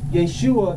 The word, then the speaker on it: Yeshua: a letter j so all words that we've heard of that begin with the letter J those have been Europeanized they've been changed Jerusalem Jeremiah Jesus Jericho that's not how they pronounce this brother's name was Jake sure all all